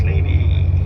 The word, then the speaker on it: Lévis: And on the other side, on the south shore, the city is called Lévis. It's written and spelled like James Levi's, but we pronounce Lévis.